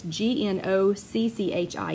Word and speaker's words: gnocchi: for a summer and that was how we pronounced it. And they brought it to us. So it must be close, but it's G-N-O-C-C-H-I gnocchi.